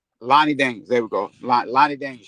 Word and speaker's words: Lani Daniels: I keep I keep forgetting how to pronounce that lady's name. Uh Lonnie Daniels. Lonnie Daniels.